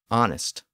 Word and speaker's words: honest: So words like honor, honest, hour, as in the time of day, heir, as in someone who inherits property, and herb were spelled with their silent H.